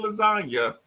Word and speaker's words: lasagna: Not understanding that the G is silent in lasagna and doing the name drop of Lil Wayne.